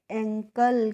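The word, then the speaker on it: ankle: तो इसको हम पढ़ेंगे एंकल। क्या पढ़ेंगे? एंकल पढ़ेंगे। और इ का प्रोनाउंसिएशन नहीं करेंगे।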